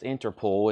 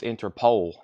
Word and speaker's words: Interpol: owa and I've learned that's not pronounced interpool it's interpole interpole he learn something new